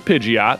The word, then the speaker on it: Pidgeot: evolution of livid um which is pidgeot that's that's the appropriate way to say it um but people would